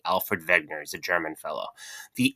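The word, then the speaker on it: Alfred Wegener: Um he is probably the most famous geologist who ever lived and his name is Alfred Vegner. It is spelled with a W but is pronounced with a V. Alfred Vegner.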